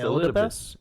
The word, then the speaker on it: Elidibus: It's Elidibus. Elidibus.